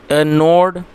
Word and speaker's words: gnawed: The squirrel node at the dried bread, दोस्तों ये जो वर्ड है GNAWED, इसमें जी साइलेंट है तो इसको नो पढ़ेंगे, जिसका मतलब होता है कुतरना।